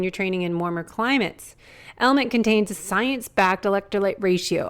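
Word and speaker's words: LMNT: our sponsors Ln element it's spelled LMN but pronounced element if you haven't heard about this element is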